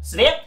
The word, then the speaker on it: sweat: Sweat? Yeah, sweat. How do you spell it? Seriously? We're doing homework now? It's S-W-E-A-T. Really? But doesn't E-A make E sound? Like feet?